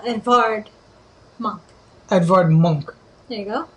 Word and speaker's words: Edvard Munch: artist of this Julie Edward monk or sorry if you're going to pronounce it the correct way it has a v so Edvard monk Edvard Monk there you